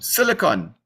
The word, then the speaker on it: silicon: amateur radio class so we should strive to pronounce the words correctly so silicon not silicone so silicon has a